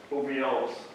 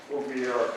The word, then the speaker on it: ovariole: And each one of those tubes is called ovariole. How do you pronounce it? Ovariole. Ovariole, thank you.